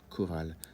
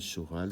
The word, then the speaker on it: chorale: Et dans ce cas-là, on ne dit pas une chorale ou des choristes, on dit une chorale, des choristes.